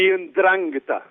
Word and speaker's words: Ndrangheta: The Ndrangheta.